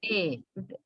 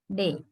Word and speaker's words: day: We say day. Typically we use a, the monophthong, day. But this is pronounced with a diphthong by the native speakers like day.